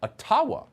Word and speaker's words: Ottawa: let the mayor of ottawa or atawa as it's correctly pronounced ojibwa explain why peaceful truck